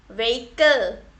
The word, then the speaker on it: vehicle: Vehicle. Okay. Vehicle. So here also H is silent.